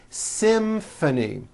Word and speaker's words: symphony: It's the same thing in this next word, symphony. This is a tricky one because you've got the M sound followed by an F sound.